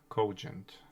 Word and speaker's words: cogent: Cogent. Co as a coast and gent like gentle.